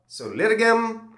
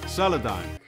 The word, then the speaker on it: Solidigm: have heard of they're called soliligum solitagum Metal Gear Solid game well the actual pronunciation is solidon and if you've never